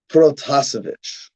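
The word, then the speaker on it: Protasevich: cool name that we should know how to pronounce roman that's his first name that's the easy part second name protozovic the protozovic instance the protocol incident you will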